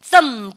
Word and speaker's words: thumb: thumb B 사운드에 마이너스 표시하시고 요때는 GH 발음이 나지 않아요.